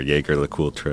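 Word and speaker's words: Jaeger-LeCoultre: uh long uh uh Jer lra or Jer lra as we say in the US and others well I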